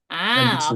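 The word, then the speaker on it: 元日: Kalau ini dia dibacanya Gang ya. Kan? Ganjitsu. Apa? So desu ganjitsu ya, ganjitsu yang ini.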